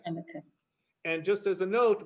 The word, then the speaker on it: Hanukkah: Anyone else have any questions about Hanukkah? Can we go over the pronunciation again? Because I hear Hannukah, Hanukkah. Okay, so it's a guttural H or CH, or sometimes transliterated as KH. Hannukah, right? Hanukkah.